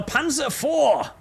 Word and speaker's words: Panzer IV: The Germans don't pronounce the V. They say the V is an F for reasons unbeknownst to all civilized humans. So it's Panzer IV.